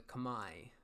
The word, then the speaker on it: Khmer: estier next we've got the khmer or the kamae as it's supposed to be pronounced but everyone calls it them the kimmer so kamer so battle elephants which are their